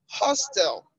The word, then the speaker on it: hostel: I have hostel is on the first syllable.